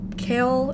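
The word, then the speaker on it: Chaol: Kale and Kale. Kale. Kale. Kale. It's C. C H A O L. However you want to pronounce that. Kale. It's not Cole. It's Kale. Kale. Kale. Like Kyle. Kyle.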